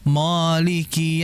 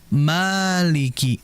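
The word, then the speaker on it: مَالِكِ: Mim ini merupakan huruf yang tipis. Huruf tipis dikala berharakat fathah, maka vokal yang ada itu a sehingga dibaca ma. Ya, berbeda halnya huruf yang tebal berharakat fathah itu akan nampak vokal o. Sehingga jangan sampai mim ini dibaca moliki yaumid. Ma tidak boleh mo tapi Maliki. Maliki sehingga dibuka.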